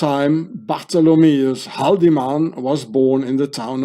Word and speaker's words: Haldimann: Because in German you say Haldimann, like an E here, Haldimann. And here in English, Haldimann, Haldimann. It's the same.